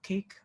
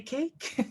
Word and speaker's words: Kake: home here in Gwich'in, Kake, Alaska, K-A-K-E. I know our Maori brothers and sisters and Hawaiian brothers and sisters might pronounce that kake, but we say cake.